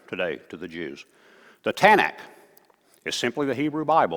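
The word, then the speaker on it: Tanakh: Bible is the tanak tanak is actually three different syllables T stands for Torah uh n stands for Naim I forget exactly what it is and C the CH sound stands for something else but anyway we'll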